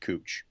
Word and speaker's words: Couch: It's spelled Couch. It's pronounced Cooch, because the person's name was Cooch.